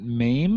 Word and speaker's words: MAME: and so they do they pronounce it maim or m-a-m-e it stands for multiple arcade machine emulator right everyone a lot of